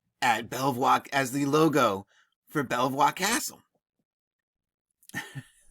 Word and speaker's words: Belvoir: right so and so the name belvoir meaning beautiful view in french and pronounced today is bieber and beaver nice bieber i don't